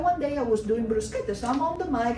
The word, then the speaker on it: bruschetta: I didn't do Italian food often, but that one day I was doing bruschetta.